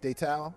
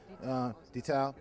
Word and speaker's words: Detal: And then we have here Keith Detal, saying it correctly. Detal.